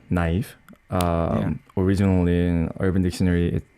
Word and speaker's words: NIve: why why why neve never well let me think well neve you are supposed to pronounce it as uh naive originally in urban dictionary